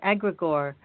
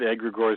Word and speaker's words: egregore: Well, we just go with egregores because that's the easiest, but it is Greek, so it should be more like egregore or egregores.